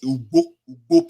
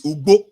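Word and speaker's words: Ugbo: Ubo, UDBO, is not Igbo. Ubo, and there's no way the pronunciation is, see, the pronunciation is Ubo people. It's not even Ubo that will sound like an Igbo. No, it's Ubo people.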